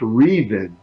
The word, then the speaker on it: Revin: to wait to care for fastest but it's pronounced reason fellows and I didn't find out until I